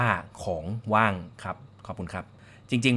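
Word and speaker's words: ของว่าง: สวัสดี ครับ ร้าน เค้ก ของ ว่าง ครับ อ่าน ว่า ของ ว่าง ครับ ขอบคุณ ครับ จริง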